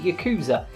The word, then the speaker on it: Yakuza: of the Yakuza series York as a series however you want to pronounce it I pronounce it you coozer anyway it's a spin-off